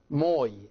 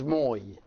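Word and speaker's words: ⲙⲟⲓ: it a little bit and this word is pronounced moi as you can see it is me and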